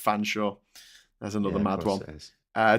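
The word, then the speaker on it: Featherstonhaugh: oh there you go Feathering featherston Hall is pronounced fansa there's another mad one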